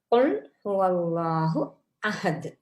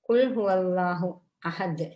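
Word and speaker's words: قل هو الله أحد: உச்சரிப்புகளைதான் நாங்க இங்க சொல்றோம் கா தொண்டை குளியால வர மாதிரி உச்சரிக்க வேண்டும். குல்ஹுவல்லாஹு அஹது நபியே கூறுவீராக அவன்தான் அல்லாஹ் அவன் ஒருவன் அந்த நன்றாக உச்சரித்து ஓதாவிட்டால் குல்ஹுல்லாஹு அஹதுத என்று ஓதினால் நபியே சாப்பிடுவீராக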